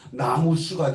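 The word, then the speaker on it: 南無: 나무라고 하는 것은 한문자로 쓰면 남쪽 남자에다 없을 무자 남무 아미타불이거든요. 그런데 이게 산스크리트어로 발음을 하면 나무수가 돼요. 그래서 나무 나무로 쓰고 읽을 때 나무로 읽어요.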